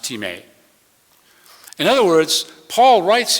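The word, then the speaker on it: τιμή: honor / value it's spelled t-i-m-e but it's pronounced teammate in other words Paul writes here that we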